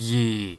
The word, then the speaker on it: Ye: Oh, that's why his company is called Ye. It's actually pronounced Ye.